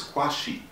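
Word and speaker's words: Qeoashie: all rules and considering my last name is spelt q-e-o-a-s-h-i-e which is kwashi which actually means sunday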